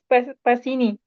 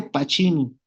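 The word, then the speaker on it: Pacini: que lo ubique Soria No pues no se dice pachini cuando do c en italiano lo dice como Che Como creo que frapuchino si has visto cóm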